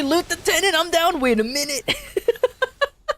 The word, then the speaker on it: lieutenant: I don't understand lieutenant. Take me with you, I want to loot wee. It's a French word that went over to the English and kept the spelling but not the pronunciation.